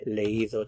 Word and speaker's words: leído: This is the verb leer, and for this one you do have to put an accent mark on the I. He leído, to keep the E and the I from running together as one syllable.